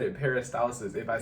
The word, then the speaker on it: peristalsis: But peristalsis, okay, one of those bodily functions that's affected by again the frequency of consumption of water and not necessarily the amount.